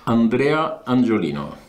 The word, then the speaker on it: Andrea Angiolino: I'll be glad if you can say your name, because I suppose I will pronounce it badly. Andrea Angiolino.